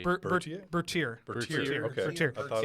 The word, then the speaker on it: Bertier: Bertier. Bertier? Bertier.